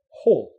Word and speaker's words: whole: of pronunciation all whole make sure you get that H sound and the O sound together now what's the difference